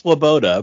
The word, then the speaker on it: Swoboda: to do with fets and it's well it's pronounced swaboda but the uh um yeah I my online